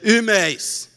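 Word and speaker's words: ὑμεῖς: Em português é difícil fazer a confusão entre nós e vós, mas em grego, nós é imeis e vós é imeis. Você percebeu alguma diferença? Pois é. A pronúncia é quase idêntica.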